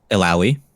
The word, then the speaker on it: Illaoi: Illaoi. Okay, thank you. And it's like owie after ill.